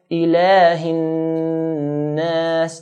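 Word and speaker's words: إِلَٰهِ النَّاسِ: So we're going to stretch the lam to 2 counts. Ilahin nas.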